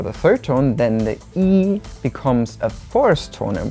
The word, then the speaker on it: 一: We said that if it's a number, we only pronounce it as the first tone. For example, 11 is 11. and then we said when E is together paired with a fourth tone, it becomes the second tone, and we used measure words to demonstrate that.